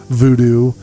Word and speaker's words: voodoo: And she actually is a practitioner of voodoo, or she says VooDoo is the proper pronunciation. I was going to sit down with her and actually do an episode on this with her, but because of the lockdown, voodoo rhymes. It has to be voodoo because it rhymes.